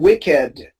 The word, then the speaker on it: wicked: A, B, C are exceptions in English. You have to say rugged, crooked, and wicked.